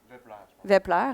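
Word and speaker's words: Wepler: Là, j'aurais dû te demander, c'est un V, c'est un W qui se prononce en V. Vepler, hein, c'est ce que je dirais.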